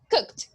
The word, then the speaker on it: cooked: Okay, so cook, and then you go faster. Cooked.